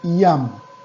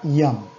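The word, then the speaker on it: ים: La palabra mar en hebreo es muy sencilla, se dice yam. La palabra mar en hebreo es la palabra yam. Yam en hebreo se escribe yud mem sofid.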